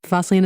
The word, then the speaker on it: Fosslien: Yes, Fosslien is how you say it.